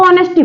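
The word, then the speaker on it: honesty: इसको लिखेंगे नेस्ट को इसको नेस्ट नहीं पढ़ते इसको ऑनेस्टी पढ़ते हैं क्योंकि इसमें एच जो होता है साइलेंट होता है जैसे कि आपने लिखा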